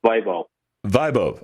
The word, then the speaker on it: Vaibhav: i think you you said it right it's bible vibe okay all right because i i don't want